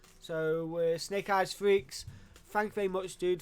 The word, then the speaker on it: Friex: I believe he said it is pronounced Friex.